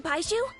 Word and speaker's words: Baizhu: snake oh are you Uncle baiju that's how you say his name and goodbye to you